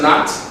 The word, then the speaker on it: knot: k-n-o-t okay all right and which letter is silent in the second knot which letter is silent yeah the k k is silent okay good job now what about question number 16 question 16.